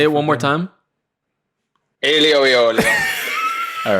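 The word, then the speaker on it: aglio e olio: Alio e olio. You have to say it like that, or else it doesn't count.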